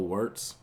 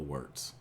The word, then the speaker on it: Wurtz: a YouTuber named Bill warts I believe that's how that's pronounced his name Bill warts and this instead of